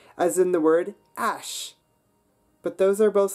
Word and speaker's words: haches: So when we look at the plural forms of the word and ash, we see that the S at the end of les can become a liaison with but not with ash.